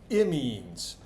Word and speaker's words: imine: You have to be real precise with your pronunciation of amines and imines.